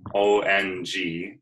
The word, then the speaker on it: Ong: namo guru Dave nominal so I'm sure you've heard of ohm this is Ong um just a different pronunciation a different way of moving the vibration the energy and it's